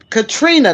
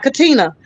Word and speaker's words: Katrina: How many of us realize the amount of work Katrina, not Katina, but Katrina Pearson put into trying to make things better for Black people?